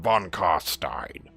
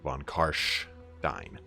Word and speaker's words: von Carstein: of Von carstein uh the s in Stein is generally a sh sound I know whenever you play the game it's it's uh Manfred bonstein uh apparently according to